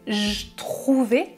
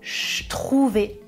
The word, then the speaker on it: je trouvais: Je ne prononce pas je trouvais avec le son j, je prononce je trouvais avec le son ch de chocolat.